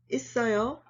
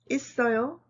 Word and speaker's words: 있어요: 있어요 and 없어요. 있어요 is easy. You just need to apply the linking rule, that's all.